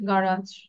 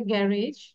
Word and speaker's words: garage: Number 4, a garage is আচ্ছা, এটার উচ্চারণটা হচ্ছে গারাজ, গারাজ। অনেকে বলে গ্যারেজ, বাট its pronunciation হচ্ছে গারাজ।